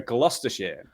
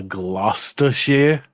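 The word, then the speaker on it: Gloucestershire: wait let me write it Ware or a gluster share a gluster share yeah okay that one's probably kind of easier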